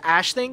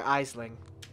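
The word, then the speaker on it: Aisling: only reason i know that's pronounced ash thing is because i wanted to name one of my own characters that otherwise i'd be calling her eisling thing is nobody knows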